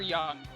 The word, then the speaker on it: Yang: Do you pronounce him Yang or Young? Both. Because DS is Young, Yeah.